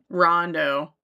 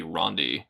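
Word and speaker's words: Ronde: Oh, no. This is Rond. Oh, it's just Rond. R O N D E. Could be Rondie. Getting a little Rondie in here. That's not right.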